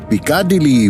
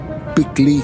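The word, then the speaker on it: Piccadilly: আমাদের হোটেল যেখানে, সেটার বানান দেখে পিকাডিলি বলতে ইচ্ছা করলেও আপনি যদি পিকলি বলেন তাহলে ওখানকার সাধারণ লোকে বুঝবে আরো সহজে। পিকলি সার্কাস।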